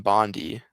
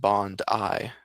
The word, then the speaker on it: Bondi: Dude, that's a rat says, the attack in Bondi, pronounced Bond-I, Bond-I, was two guys shooting a group of Jews because of the war going on.